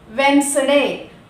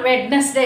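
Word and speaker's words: Wednesday: For example వెన్స్డే, WDNESDAY, వెన్స్డే. చూస్తున్నారు కదా screen మీద స్క్రోల్ అవుతుంది, వెన్స్డే. దానిలో మనం డి ప్రొనౌన్స్ చేయము. ఇట్స్ నాట్ వెడ్నెస్డే. నేను చాలా మంది దగ్గర విన్నాను వెడ్నెస్డే అంటూ ఉంటారు, బట్ we should not pronounce D in that word because that did come before N, letter N.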